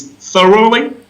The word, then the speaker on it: thoroughly: i will try it's thoroughly oh very close thoroughly thoroughly thoroughly excellent really good okay so the stress is on the first it's on the beginning of the road yes it's a third